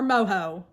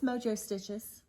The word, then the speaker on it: Mojo Stitches: Okay, so is it Mojo or Moho? It's Mojo Stitches.